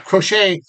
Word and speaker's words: Crochet: Did I pronounce his name? Yes. Yeah, Crochet.